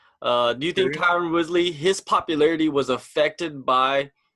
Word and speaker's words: Tyron Woodley: Do you think Tyron Woodley, his popularity was affected by Dana White's comments and his perception that he gives about Tyron Woodley?